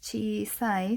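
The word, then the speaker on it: 小さい: Remember that small is pronounced chisai, so the sa I gets written in hiragana after, so this is okurigana.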